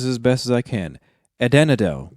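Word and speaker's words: Adanedhel: And they all started to call him, I'm gonna try to pronounce this as best as I can, Adenadel. Adenadel, yeah, you got it.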